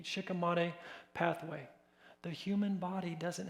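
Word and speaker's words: shikimate: Glyphosate's approved for human consumption because the main pathway that glyphosate interrupts is called the uh shikam mate is how I pronounce it. Sh h i k a t. Shikamate pathway.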